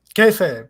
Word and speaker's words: Kayfabe: Kayfabe, yes, that's Kayfabe, the name of the book.